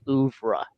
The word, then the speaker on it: oeuvre: Because I just think there's other things on here that tell more of a tale and connects better with his overall like oeuvre.